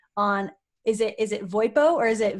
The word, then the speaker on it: VoIPo: to focus on on is it is it voipo or is it v-o-i-p-o uh it is pronounced voipo spell v-o-i-p-o so both okay cool